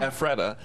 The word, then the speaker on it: Ephrata: facility located in, how do you say that, Ephrata? Ephrata, that is simply known as Retreat in Lancaster County.